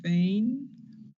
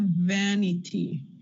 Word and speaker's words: vanity: in different positions so you have the word vain and then you have vanity when you add a a suffix an ending to the word vain you get a LAX sound uh not a that